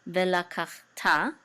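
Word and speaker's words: וְלָקַחְתָּ: Usually in the middle of the word, the shava is silent. Ve la kach, and this is a ta with a kamatz, which says ta, ve la kach ta.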